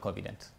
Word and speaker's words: Covident: Yes, Covident. I'm pronouncing it properly?